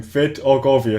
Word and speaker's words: Vidargavia: Vidargavia, that's it.